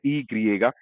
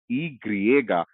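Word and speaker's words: i griega: उसके बाद है ई ग्रिएगा, जो इंग्लिश में वाई कहलाता है वो स्पेनिश में कहलाता है ई ग्रिएगा।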